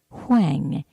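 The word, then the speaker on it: Huang: ist the Taoist master Alfred Wang H is in Harry you a n G and it is this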